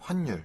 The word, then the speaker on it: 환율: 니은이 이제 올라가서 환율이 예. 돼야 됩니다. 발음할 때는.